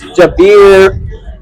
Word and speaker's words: Javier: He's always pronouncing his name wrong. It's Javier.